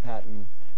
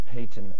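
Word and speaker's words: Paton: you to name him i think it's spell patton it's pronounced payton alan payton p-a-t-o-n here's your bonus for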